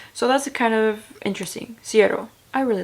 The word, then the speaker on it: Siero: Siero is how you pronounce the brand.